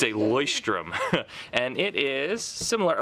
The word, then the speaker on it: Leuchtturm: video on how to say this it's a boy Sturm and it is similar like it looks fairly